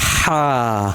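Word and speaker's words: حاء: Ha. Pronounce it from the middle portion of throat.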